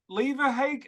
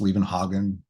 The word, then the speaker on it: Levenhagen: I always tell people when I'm like, if they're having trouble pronouncing it or something, so it's kind of like Copenhagen, except with 11 in front of it.